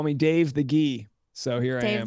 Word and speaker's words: Guy: it sounded cool but in French uh the accent is actually pronounced ghee and it just gee